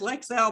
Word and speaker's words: Lexel: one time and said how do you pronounce the name of your product and she she told me lexel and every time she she every time she she was telling me she she said yes lex hell blah blah blah and